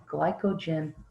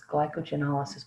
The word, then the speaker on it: glycogenolysis: If you want to break glycogen down, it's called glycogenolysis. That's not how it's pronounced. It's glycogenolysis, but it's got the word glycogen in it, then an O, and then lysis.